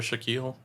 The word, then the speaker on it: Shaquille: And his name is Shaquille O'Neal because Shaquille rhymes with O'Neal and it sounds cool.